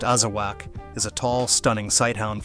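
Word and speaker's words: Azawakh: The Azawak, pronounced Azawak, is a tall, stunning sighthound from West Africa, and it completely changes the rare dog conversation.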